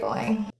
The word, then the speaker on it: going: I should get going the nasal NG sound in going is produced with the back of the tongue rather than an N with the tip of the tongue the G is not pronounced that NG is a completely individual sound I should get going